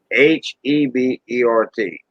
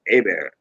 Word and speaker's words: Hebert: j-o-e and then space h-e-b-e-r-t joe a bear not hebert but a bear so what you got